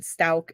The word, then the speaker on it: Stauch: Lowry is the siblings' names, and Stauch is how you say their last name. But it's funny because her lawyer says it wrong every single time.